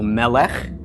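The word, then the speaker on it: מֶלֶךְ: under the lawmen okay so this is pronounced M for the mem short e for the sigil L for the lammott short e for the cycle under the Mahmud and cut for the cuff so Melek and Mela is a king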